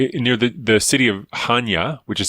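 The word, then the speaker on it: Chania: to this uh near the the city of Hanya which is spelled c-h-a-n-i-a and there was a an island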